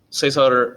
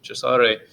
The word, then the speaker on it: Cesare: Okay, so and then Cesar or Cesare Lombroso, if you really want to talk about it and pronounce it correctly, Cesare, um, he had this